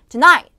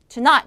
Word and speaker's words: Tonight: 자 Tonight 오늘 밤이고요 자 얘도 이음절 강수에 ight이라고 말하는 순간 감점이 요이 아니라 Tonight Tonight 이음 절에다 강세를 넣으셔야 되는 단어고 jeffers street다면 이제 고유